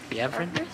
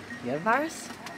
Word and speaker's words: Jvari: Jvari? No. Jvari? No. I think the J is kind of silent. Is it? So we've arrived at the Jvari Monastery.